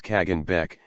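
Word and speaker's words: Khagan Bek: Khazar armies were led by the Khan Bek, pronounced as Kagan Bek, and commanded by subordinate officers known as Tarkhans.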